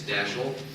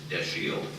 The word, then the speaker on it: Dashiell: A lot of you might think it's Dashiell. I thought that myself until some time ago, and I was told that he always liked to have it pronounced the proper way, which was Dashiell.